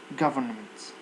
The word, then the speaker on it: government: Don't say govern, because the r and n are pronounced in the same place.